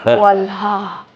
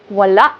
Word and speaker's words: wala: It's not wala. It's wala. Ang galing. You put the glotle stop. Eag walang stop.